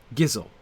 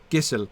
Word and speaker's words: Gisle: the past the Thane gisle gizzle sorry should be hard G Gissel is a strong warrior